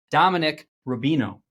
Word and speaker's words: Dominic Rubino: SEC on your last name and then I butchered the first I'm going to start it again Dominic Rubino that's me you nailed it you nailed it